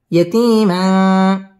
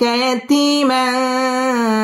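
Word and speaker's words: يَتِيمًا: ধাক্কা দিয়ে পড়তে হবে আলাম ইয়াজিদকা ইয়াতীম মধ্যে তাবাঈ একা লিফ টেনে পড়তে হবে ইয়াতীমা ইকফা গুন্না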